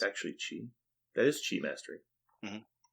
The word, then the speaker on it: Chi: So he has a Chi Mastery, or Key Mastery. You pronounce it how Key. you want. It's key. That's his tactics. That's his tactics card, right? Yeah. That's Oh, wait. yes. It's actually Chi.